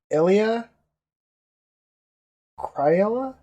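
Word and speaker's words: Elia Cmiral: I'm going to go with Elia Cryella. Nice. Well done. It is ELIA space capital C MIRAL. But anyway, the reason I know you don't pronounce the C.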